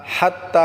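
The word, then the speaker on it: حتى: পড়বো মুন হিয়া হাত্তা হাত্তা বলতে আমাদেরকে হাটাকে গলায় চাপ দিয়ে উচ্চারণ করে তা এক আলিফ টানে পড়বো হাত্তা সালামুন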